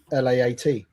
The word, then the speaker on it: LAAT: Is it LAAT like that? LAAT. But it rhymes with back, doesn't it?